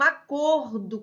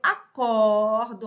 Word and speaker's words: acordo: é substantivo né eu acordo aperto né eu acordo cedo verbo acordar despertar tá então aqui é acordo fechado aqui acordo aberto então ó grafico igual